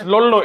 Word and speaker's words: Lollu: It's Lolu. It's LOLLU. So you can break it at LOL and LU. So LOL. So you can say it like that.